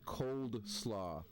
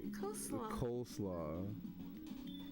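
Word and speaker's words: coleslaw: forgot to mention that you pronounce it cold sllo? I don't know why. Cole slaw. How are you supposed to pronounce it colelaw? You said cold slaw. Like it's not cold.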